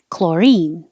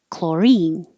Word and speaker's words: chlorine: curious I'm really curious chlorine the stress is on the second syllable and the CH sounds like a k chlorine the pool has too